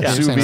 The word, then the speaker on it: sous vide: Yeah, sous vide. See, that's like you're gonna sous vide. S-O-U-S, sous vide, V-I-D-E. It's French.